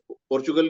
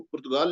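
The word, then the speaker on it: Portugal: पोर्चुगीज के लोगों को, पोर्चुगल के लोगों को पुर्तगाल लिखते हैं हिंदी में। जैसे सानिया के पीछे मैप है, उसमें पुर्तगाल लिखा हुआ होगा, लेकिन उसे सही प्रोनाउंसिएशन उसका पोर्चुगल है।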